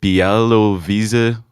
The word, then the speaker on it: Białowieża: So at number 5, we've got the Białowieża Forest. I hope I got that pronunciation right.